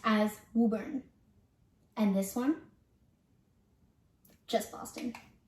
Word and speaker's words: Woburn: of this town what about this town it's pronounced as woburn and this one just boston okay that's all